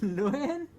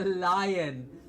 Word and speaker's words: lion: No, it is not a loon. It's a lion.